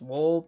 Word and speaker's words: W.ALL: or w dot all i'm assuming it's pronounced wall but honestly for the